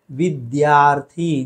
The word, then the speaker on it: विद्यार्थी: तो इसका सही उच्चारण क्या है? विद्यार्थी। द्य है, ध्य नहीं है।